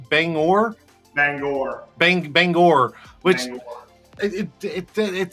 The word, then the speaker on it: Bangor: It's Banger Banger. Banger man. Banger man. So, a little little inside joke. So, apparently I was pronouncing it wrong the whole time. I kept saying banger, but it's bang bangor.